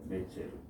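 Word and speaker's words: נֵצֶר: 이 말씀은 그 이사야 11장 1절 가운데 한 가지가 나서, 한 가지라고 하는 단어가, 한 가지라는 단어가 히브리 말로 넷제르라고 하는 발음이 나오는데요. 넷제르.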